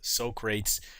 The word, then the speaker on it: Socrates: It's spelled Socrates, and don't pronounce it wrong. It's Socrates.